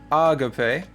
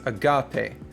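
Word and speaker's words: ἀγάπη: This little mark right here is your stress mark, which syllable gets the stress. So, it's not agape, it's not agape, it's agape.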